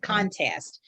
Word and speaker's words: contest: Contest with the accent on the first syllable.